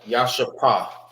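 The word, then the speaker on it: ישפה: How you say Jasper in the Hebrew? It's Yasha. Ya. All right. Yasha. That's Jasper.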